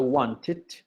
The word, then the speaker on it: wanted: verbo querer, want, pasado wanted, ¿sí? Cuando me está, ¿cómo se dice?, prevaleciendo el ED, antes del ED, voy a pronunciar dead, ¿sí?